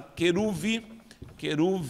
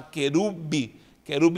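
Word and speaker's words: כרוב: Essa palavra queruve, nem vou escrever em hebraico, mas vou transliterá-la, queruve. Muita gente fala querube, mas não é querube com B, porque é escrito com vete.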